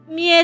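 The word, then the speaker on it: 三重: 三人重いって書いて三重って読むんですよ。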